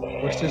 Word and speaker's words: Worcester: It's like Boston has a town that's read Worcester, but it's pronounced Worcester.